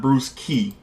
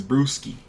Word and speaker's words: Brewski: Chuck, it's not Bruce Key, it's Brewski.